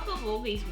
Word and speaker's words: bulgogi: So how bulgogi's made?